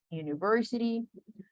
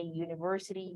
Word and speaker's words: university: This U se pronuncia, tiene sonido de consonante.